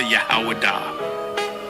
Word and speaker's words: Judah: There is something special about you, Judah. There is something special about you, Israel. Or Yashua all. When I say Judah, Yahawadah. That is the ancient pronunciation of the word.